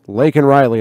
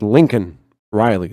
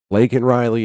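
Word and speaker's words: Laken Riley: is big enough and he cannot pronounce that he says Lincoln Riley Lincoln Riley let's let's turn it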